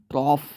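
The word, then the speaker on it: trough: इस वर्ड को एक्चुअली पढ़ते हैं ट्रॉफ। ये है इसका सही प्रोनाउंसिएशन, ट्रॉफ। मैं खुद भी ट्रॉप पढ़ देता हूँ। हो सकता है मैंने पढ़ा हो पहले कभी किसी वीडियो में भी, लेकिन वोकैबुलरी की किसी वीडियो में मैंने कभी इसको ट्रॉ नहीं पढ़ा होगा। अगर ये कभी आया है तो इसको ट्रॉफ पढ़ते हैं। इसका प्रोनाउंसिएशन होता है ट्रॉफ।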